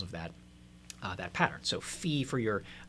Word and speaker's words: fi: So this is going to be sung as the syllable fi, as in fi. Now, why is that the case? Well, there's a tendency in solfege to take a regular note, and when you sharp it, you turn its vowel into something that rhymes with e. So fa becomes fi when it's been raised by a half step.